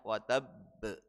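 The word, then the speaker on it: وتب: ada berhenti sebentar ya karena ada tasdidnya. Berbeda kalau tidak ada tasdidnya maka huruf ba ini huruf qalqalah yang membalik tapi langsung tidak ada tidak ada berhentinya. Tapi karena di sini ada tasydidnya maka dibacanya watabb ya. Ada berhenti sebentar.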